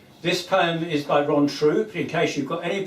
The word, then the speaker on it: Throop: This is Charles Thson is a bit sore is wrong because his name is spelled throo but it's pronounced troop whereas my name is